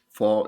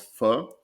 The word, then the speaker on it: pho: how to properly pronounce pho, and she basically told me just say the English F word and forget to say the K at the end.